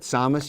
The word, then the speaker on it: Sames: salmos but samus you said rhymes with fios comments that's right William is just